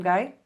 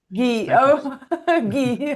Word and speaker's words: Gui: Hi, welcome Guy. Well, thank you very much for having me on. Actually, my my it's it's pronounced Gee, but Gee.